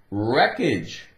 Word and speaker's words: wreckage: Wreckage. Take away the W. No sound. Well, the W is still going to be there, but it's silent.